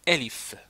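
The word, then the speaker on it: ألف: C'est pas on ne dit pas aif non, on dit. OK, donc ça c'est la le premier truc de prononciation. C'estàdire quand quand je vous dis, il faut dire élif comme ça. Elif. Donc quand je vous écris alif, donc voilà, ça c'est alif, il faut prononcer alif.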